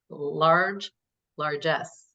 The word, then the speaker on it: largesse: In today's episode, we offer a stark illustration of Jefferson's matchless generosity and his largesse. Largesse. I like that. Yeah. Did I pronounce it correctly?